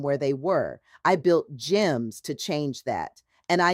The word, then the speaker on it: G3MS: GEMS. That is spelled G3MS.